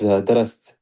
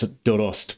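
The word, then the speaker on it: درست: It looks like the past tense of studied, but in Persian it's dorost, which is Dorost mikonam is to prepare.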